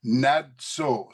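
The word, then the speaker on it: נצר: And here we've also got, and I'm giving the pronunciation here, Natsar. So you can see it right here, the D and the Z. That's how we pronounce it from 3478.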